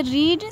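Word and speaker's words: read: होती है लेकिन फ्रेंड्स यह रीड सेकेंड और थर्ड फॉर्म में रीड को हम रीड पढेंगे रीड नहीं पढेंगे यहां पर मैंने प्रोनाउंसड लिख दिया रेड लिख दिया है यहां भी प्रोनाउंसड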